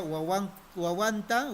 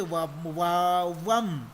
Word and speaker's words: wawan: Ushakunapa, entonces sería wawanta, wawankunata mikuptin. Ah, usha. Pero ahí dice ushakunapa. Entonces está haciendo referencia a sus ovejas, ¿no? Usha, kunapa, wawanta, wawanta. Recuerden, no se dice wawam, sino se dice wawan.